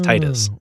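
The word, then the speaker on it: Tidus: They actually refer to Titus as Titus because they make reference to Final Fantasy X characters, and they say it out loud as Titus. Wow! So that's they canon. canonize that pronunciation.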